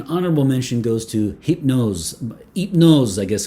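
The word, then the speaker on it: Hypnôse: mention goes to hypnose it knows i guess would be you wouldn't pronounce the h in french it knows by lancome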